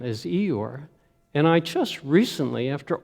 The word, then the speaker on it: Eeyore: i knew was eeyore because of an english dialect whereby they dropped the r therefore in milne's mind this word would be pronounced ee ah which to milne sounded